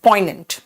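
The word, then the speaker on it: poignant: में यूज करते हैं पोनेंट देखो इसमें जी साइलेंट है पोनेंट सीमली सीम का मतलब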